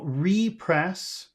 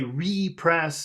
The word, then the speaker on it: repress: And if you say repress, that means press it again. But this is repress, which means holding down your feelings. So the accent is on press.